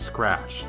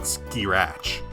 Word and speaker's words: scratch: Also, it's pronounced scratch, not skirach.